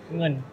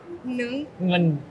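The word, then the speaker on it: เงิน: Ngun. Ngun. Ngun. It's the N with a G. Ng.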